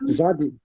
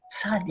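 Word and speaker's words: צדי: Make it more with a T. Tzadi.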